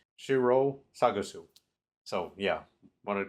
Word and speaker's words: Shiro Sagisu: Number two, I butchered Shiru Sagisu's name, the composer, so I want to correct that real quick. He's so good in going back and checking myself. I felt bad for mispronouncing his name, so at the very least, I know it's Shiro Sagisu.